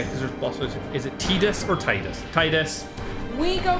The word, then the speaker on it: Tiddles: me, by the way, the correct pronunciation is Tiddles. I'm going to be like, great, cool. I'm going to continue calling him Titus.